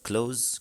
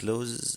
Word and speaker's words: clothes: ولا على فكرة clothes هي بتنطق clothes كده، ولها نقطة تانية clothes، بس الاس الأخيرة دي يعني انت يا دوب بتديها سنة بسيطة كده، بتطلعها بس على استحياء.